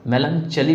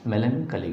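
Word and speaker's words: melancholy: उच्चारण का ध्यान रखिएगा, यहाँ पे CH चा नहीं होगा, मेलनचली मत पढ़िएगा, मलनचली मत पढ़िएगा, मेलनकली होंगे, ठीक है।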